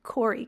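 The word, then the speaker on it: Kore: referred to as Corey how I would say it Corey k o r e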